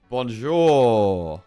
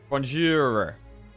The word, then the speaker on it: Bonjour: Pronounce the R at the end distinctly. Bonjour. Bonjour.